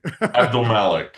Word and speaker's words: Abdelmalek: give us that last name again so it's pronounced properly. Abdelmalek.